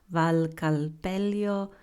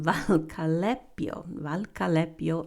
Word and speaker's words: Valcalepio: You can pair your meals with a glass of Valcalpello, or no, I mispronounced it, Valcalepio Rosso, or Moscato di Scanso, which is a sweet red wine from the region.